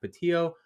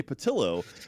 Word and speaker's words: Pattillo: the one and only Jack patio how are you doing today sir I'm doing very very well it's patillo see we talked about this